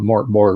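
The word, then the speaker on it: Mörk Borg: than the Swedish chef, use the sweetest pronunciation of Mork Borg. Rhymes with work story.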